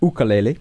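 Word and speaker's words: ʻukulele: fill Natividad on the ukulele or oka Lily as Bailey properly pronounce it banks will appreciate that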